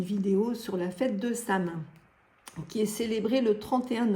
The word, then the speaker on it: Samhain: Samin signifie fin de l'été. Ce mot gaélique se prononce Samhain, Samhain, voilà, il y a beaucoup de prononciations possibles. Moi, je reste avec Samin.